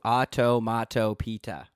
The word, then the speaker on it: onomatopoeia: Onomatopoeia. Onomatopoeia. And the one of my onomatopoeias. You owe me a pita. Oh, you owed me the pita. Yeah. Why, hello, Mr. Peter. That is how you say onomatopoeia.